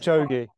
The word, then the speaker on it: Kipchoge: And actually, I think it was Eloid Kipchoge. I never know how to say his name. But yes. He basically says... Kipchoge.